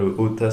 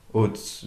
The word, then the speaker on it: Oats: Ça s'appelle Otas Studio. O-A-T-S. Oats. Oats, je sais pas prononcer. OATS, oui, c'est pas Ota. Oats.